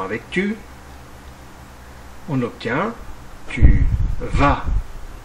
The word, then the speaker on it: vas: tu on obtient tu vas attention au S à la fin qui est muet et qui ne se prononce pas conjuguons le verbe aller